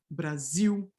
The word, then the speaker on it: Brasil: Coda L in Brazil is fully vocalized, right? So this orthographic L here is pronounced like a W. Brasil, Portugal, sal, papel, okay?